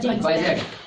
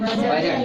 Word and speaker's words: budget: बजट। क्या पढ़ते हैं? बजट। देखो जी के पहले आया डी, तो डी का उच्चारण नहीं हो रहा, पढ़ो तो बजट, बजट।